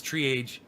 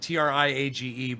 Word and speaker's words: triage: He says triage. And he spells it Triage, but it's triage. I got to teach him the French.